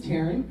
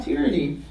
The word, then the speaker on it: Tearyne: So my name is Tearyne. It is pronounced like Karen with a T. I know some of y'all might have been wondering about that. It is not Tearyne.